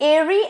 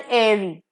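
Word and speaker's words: aerie: बढ़ते हैं next is एरी एंड एरी again यहां पे आप देख सकते हो कि स्पेलिंग का थोड़ा इधर-उधर है प्रोनंसिएशन सेम है ए ई आर आई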